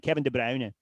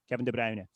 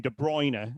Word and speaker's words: De Bruyne: world would have been Kevin de Brer de you know the the the color brown. For some reason it became De Bruyne. And I don't again I don't know if that's because people looked at that name and thought it looks like De Bruyne but it's not.